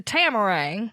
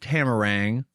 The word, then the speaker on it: Tamarang: finally make it to tamarang tamarang camel race you put the emphasis on the second half and I put it on the first half I say tamarang because